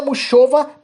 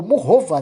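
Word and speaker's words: Muchová: Carolina Muchova, ou Murrova, né? Acho que é essa a pronúncia.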